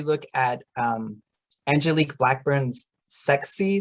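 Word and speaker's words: SACSE: at um angelique blackburn's sexy survey i don't know if you if you've heard of this one it's it's spelled s-a-c-s-e um this is all about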